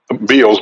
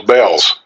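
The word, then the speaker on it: Bealls: You think they pronounced Beals? Bells. It's Beals.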